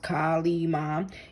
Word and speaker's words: Kali Ma: So Hindu goddess Kali Ma, pronounced Kali Ma, is a fierce powerhouse of the creative feminine